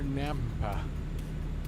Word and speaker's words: Nampa: We're Nampa. Nampa. It's like Tampa, but with an N instead.